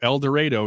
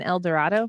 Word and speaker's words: El Dorado: an interesting one so el dorado is where my uh it's a town right next to wichita is that different than el dorado yes they pronounce it el dorado they also drive chevy